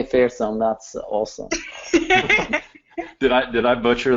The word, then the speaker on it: Fersum: And I really like you pronouncing my first name really nicely, and particularly Fersum, like using that my last surname, calling me Fersum.